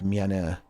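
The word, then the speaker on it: 미안해: It's low-key pronounced like miane.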